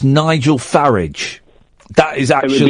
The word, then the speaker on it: Farage: um but it it farage rhymes with garage yeah but I say garage and some people say garage no it but no I've I've heard him say it farage rhymes with garage so it's Nigel farage